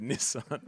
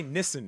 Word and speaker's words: Nissan: Um because I in my excitement and I just said Nissan which is not how we even say we say Nissen in Australia.